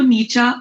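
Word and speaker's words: Nietzsche: तो ये जो है फ्रेडरिक नीचा, तो ये स्पेलिंग बहुत ही कॉम्प्लिकेटेड है, पर इसको नीचा इस तरह से प्रोनाउंस किया जाता है।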